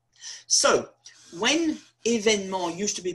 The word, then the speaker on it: événement: Événement. There are three E's in French. E on its own is pronounced E, or it's dropped.